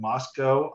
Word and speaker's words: Moscow: the city of Moscow, I said it wrong in June, so now I really have to make sure I say We're it. not in Russia. We're not Moscow. We're not that cow.